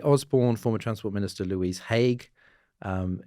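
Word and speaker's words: Haigh: former transport minister Louise Hague. Um I think I've been mispronouncing her name, but as I saw post on social media, it's h like the war crimes tribunal, right? Not hay like horse food.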